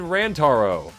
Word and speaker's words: Rantaro: Then I said I said Rantaro.